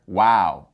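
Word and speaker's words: وَ: So the letter Waw with a Fatha would be pronounced Wa. Wa.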